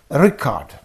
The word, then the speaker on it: record: Nouns get stress on their first syllable, and verbs get stress on their second syllable.